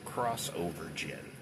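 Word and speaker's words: Xovergen: And how do you spell that? X O V E R Gen. Crossover Gen.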